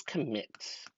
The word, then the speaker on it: commit: The word is commit. Next, I need you to split the word into 2 parts for the 2 syllables and label them 1 and 2. And then next, I'm going to have you circle the stressed syllable. Go ahead and think about that. Is it 1 or 2? Where does a syllable fall? If you circle 2, you are correct.